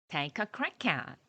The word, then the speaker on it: take a crack at: 네, crack at을 띄어서 하나하나 발음하지 마시고요. 연음해서 take a crack at.